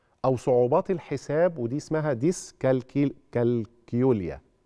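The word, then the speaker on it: dyscalculia: صعوبات الحساب ودي اسمها ديسكل كالكيوليا هي هتتنطق كده خلاص مش زي الكالكوليتور يعني تمام دي يعني فقدان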